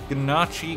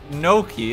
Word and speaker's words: gnocchi: never see it again ganache gang like is that a real type of pasta i don't know the bow ties genachi is real it's so good it's pronounced gnocchi is it oh i'm